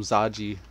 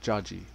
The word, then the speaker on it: Jaji: I was calling him Zaji. He's like, it's pronounced Jaji.